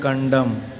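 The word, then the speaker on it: condemn: जैसे यहाँ लिखे हैं आटम, यम के बाद देखिए यन दिया है तो इस यन का उच्चारण क्या हो जाएगा, साइलेंट हो जाएगा।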